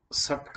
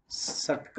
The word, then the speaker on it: षट्क: विवेक और वैराग्य के बाद षट्क संपत्ति। ये जो तीसरा है मूल्य षट्क संपत्ति, कोई उच्चारण में कहते षटक संपत्ति, षटक नहीं होता है।